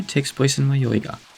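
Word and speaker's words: 迷い家: Stage 2 takes place in Mayoiga. It's often written as Mayohiga, even in Japanese, but the hi is just pronounced as I for whatever reason.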